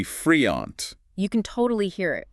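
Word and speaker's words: freond: Like friend, F-R-E-O-N-D. Sounds like. Friend, pronounced roughly friant.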